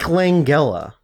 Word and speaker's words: Langella: Frank Langella, or Langella, Nice. depending on how you want to pronounce it.